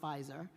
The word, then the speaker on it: Faiza: and by the way, it's pronounced Pfizer.